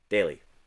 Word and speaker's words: Daly: I'm saying it wrong. Connor Daly. Daly. That's right.